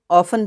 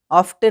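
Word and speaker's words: often: ऑफन means अक्सर, इसको हम ऑफन पढ़ेंगे, ऑफ्टन नहीं, टी साइलेंट है।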